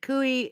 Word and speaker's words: cuy: And David, Andy says, David, Cooey is how it's spelled, C-U-Y.